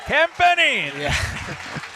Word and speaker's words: Campini: I have to say it like Campini.